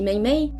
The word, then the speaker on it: mahi: écrits d'une certaine façon, comme le mahi. Personne ne le prononce comme ça, tout le monde dit mei.